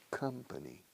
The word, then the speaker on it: company: Rima con come. Ven a mi compañía, come to my company. La sílaba primera de company es igual que come.